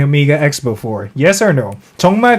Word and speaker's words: OMEGA X: mispronounced their name when it's supposed to be pronounced Omega X. Instead, they pronounced it Omega 3.